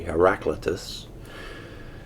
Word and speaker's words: Heraclitus: That's spelled Heraclitus. I suppose an alternate pronunciation would be Heraclitus.